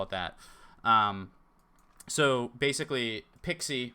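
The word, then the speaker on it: PKCE: it that so basically pixie right that's the pronunciation of this anyway according to actual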